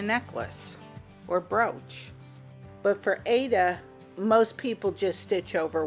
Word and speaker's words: Aida: First cloth we're starting with is Ada and some people pronounce it IDA.